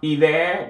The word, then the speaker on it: hiver: We have an apostrophe in front of hiver because of the silent H followed by the vowel.